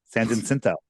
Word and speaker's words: San Jacinto: San Jacinto. Okay. Every time I mention it, somebody sends me an email phonetically spelling it for me.